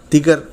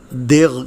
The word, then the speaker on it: دیگ: دیگچا، دیگچی اور دیگدان۔ اس لفظ کو عام طور سے غلط طور پر بولا جاتا ہے اور دیغ کہتے ہیں، یہ غلط ہے۔ درست تلفظ دیگ ہے۔ دیگ کے معنی کھانا